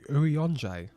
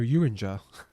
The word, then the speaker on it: Urianger: Oh, is that how you say his name? Urianger. I've been calling her Uringer.